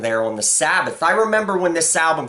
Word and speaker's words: Sabaoth: I remember when this album came out, I didn't know exactly how you were supposed to pronounce that. I was like, "Sabbaoth? What the does that say?" But then I I saw Danzig doing an interview, and that's how he pronounced it. I was like, "Okay, Death Red Sabbath."